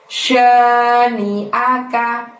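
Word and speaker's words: شَانِئَكَ: Lalu dilanjutkan dengan lafaz syani'aka, yang panjang hanya huruf sya. Ada sin besar di sana yang titiknya 3, maka tiup angin kencang dari mulutmu ya. Syani'aka.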